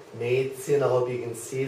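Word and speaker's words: Mädchen: German e which is a a uh and it's spelled a word like Maan Maan I hope you can see that and I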